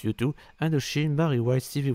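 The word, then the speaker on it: U2: you oui c'est ça ça se prononce youtu and Shin marry white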